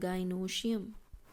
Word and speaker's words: gynoecium: और यहाँ पे हम इसको बोलते हैं गाइनोशियम, ठीक है. गाइनोशियम, CIUM, ठीक है, GYNOECIUM, that is the spelling of गाइनोशियम, ठीक है।